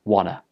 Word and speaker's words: wanna: end of want gets dropped and it becomes juana juana for example i want to go to